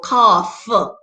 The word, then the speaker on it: cough: you the f sound so cough you get that f sound enough i'm rough those give you the f sound that's what we're looking